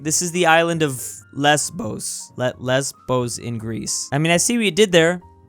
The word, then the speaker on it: Lesbos: Lesbos. That's how you pronounce it.